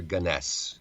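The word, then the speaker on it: Gunness: Gunnness or or Ganess uh pronunciations vary on this.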